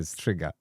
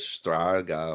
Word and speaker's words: Striga: Her name is Striga. That's how you pronounce it, Striga. So it's see, gonna. I thought it was Straga or something, but that's me, innit?